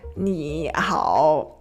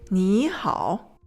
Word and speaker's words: 你好: 你好, that's not comfortable. So we change the first one into a second tone. 你好.